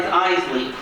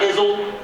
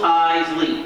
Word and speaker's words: Iseli: is the trickier parties Eisley not izzle not izelli Eisley two syllables eyes Lee you guys got it